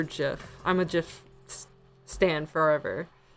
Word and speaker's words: GIF: I know it's pronounced GIF, but my brain, I just don't like GIF. It doesn't mesh well with like just the way I speak. I prefer GIF.